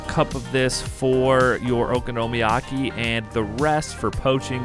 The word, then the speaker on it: okonomiyaki: here with another episode it is pronounced oko nomi aki okonomiyaki okonomiyaki is literally a